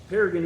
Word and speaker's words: Paragon: This is in Paragon, Indiana, and it's spelled Paragon, but we pronounce it that way for profiling purposes, so we know if you're from Indiana or not.